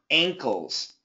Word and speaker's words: ankles: tough one km uh believe it or not there's a g sound ankles ankles there you go